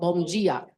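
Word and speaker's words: bom dia: Bongia. Yes. Almost like a G, right? It's like a G but without a G.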